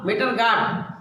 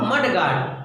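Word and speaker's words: mudguard: मीटर गटवा, मीटर गार्ड, मड जबकि है वो मड गार्ड।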